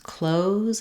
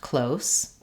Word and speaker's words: close: these sets of words so there are a few words in English that can serve as a noun or a verb and that change their pronunciation even though they don't change their spelling so close and CL